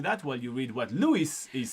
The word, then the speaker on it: Louis: while you read what Louis is saying. Louis says, thank you. You're very welcome, Do you want to practice say Louis in French? Louis. I said Louis. You're saying it with an S.